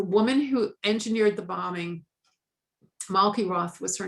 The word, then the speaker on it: Malki Roth: um and the woman who engineered the bombing malkie roth was her name and as they say in america say her name right malki roth 12 years old american girl died in smart